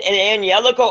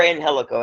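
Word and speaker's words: Angélico: Yeah, it's Angelico or Angelico, either or.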